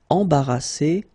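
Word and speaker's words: embarrassée: Embarrassé, embarrassé. Same thing here, final E, you don't pronounce it.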